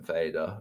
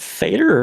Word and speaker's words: Fader: Because I think it's supposed to be father and motor is supposed to be mother, right?